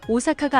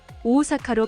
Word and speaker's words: 大阪: 같은 단끼리 모음이 이어질 경우 장음이 됩니다. お母さんおばあさん大阪 의 경우 오카상, 오바상, 오사카가 아니라 오카아상, 오바아상, 오오사카로 발음해야 합니다.